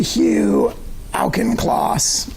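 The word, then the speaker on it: Hugh Auchincloss: of this page you sent this email to Hugh alkenclaws is that how you say his name that's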